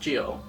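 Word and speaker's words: Gyo: juni's more renowned stories G or pronounced Gio it is the story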